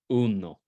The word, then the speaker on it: uno: first syllable like in Uno everybody say uno uno the first the first word in in bold there which is the number one in Spanish the emphasis is on the EU no Uno okay nueve autolos examine